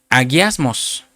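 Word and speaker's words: ἁγιασμός: Y santificación en griego, hermano, se pronuncia aguiasmos, que quiere decir alguien purificado, alguien en estado de pureza, alguien en santificación.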